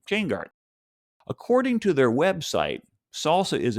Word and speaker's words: SLSA: There's a new industry collaboration called the Supply Chain Levels for Software Artifacts, or SLSA, pronounced salsa, whose URL is slsa.dev.